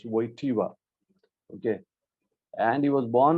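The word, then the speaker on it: Wojtyła: course Carol yoseph waiva he's pronounced as waiva okay and he was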